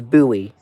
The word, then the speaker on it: Bowie: It's not Bowie. It's Buoie.